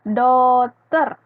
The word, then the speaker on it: daughter: D-A-U-G-H-T-E-R, bacanya daughter.